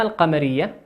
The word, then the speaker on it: القمر: طيب اللام القمرية، اللام القمرية تكتب وتنطق. مثاله القمر.